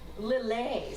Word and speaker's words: Lillet: Oh, it is pronounced Lily. Lillet, sorry, Lillet.